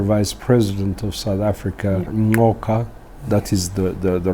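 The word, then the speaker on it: Ngcuka: team, the former Vice President of South Africa, Ngoka, that is the right pronunciation of her family name, and of course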